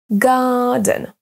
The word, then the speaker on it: garden: On accentue sur la première et c'est la même chose pour garden, garden. Les deux mots à l'écran maintenant sont accentués sur la deuxième syllabe, hotel, hotel.